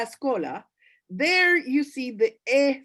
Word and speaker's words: escola: as well but actually the word when you're writing it down it is escola when you pronounce it if there is a vowel beforehand like here there's an escola then it's yeah it's usually the case that people say scholar okay i hope i